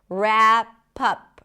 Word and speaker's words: wrap up: Wrap up. It's a cup sound. Wrap up. Stress on pup.